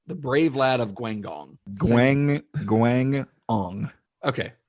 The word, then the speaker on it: Guangdong: Guangdong. Okay. That second G is with the first syllable.